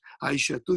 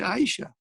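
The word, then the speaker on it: عائشة: You did not pronounce this ta at the end. Samaniya, Tis'a, Ashara. You did not pronounce the same way as you don't pronounce Aisha tu, you say Aisha.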